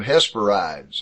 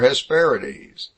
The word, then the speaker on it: Hesperides: "You're an island of Hesperides, or Hesperides.